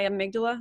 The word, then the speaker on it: amygdala: So it's not me, it's my amygdala.